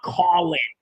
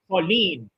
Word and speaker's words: Colin: already been hurt see that's how you pronounce it in French not Colin it's pronounced colen you know that's why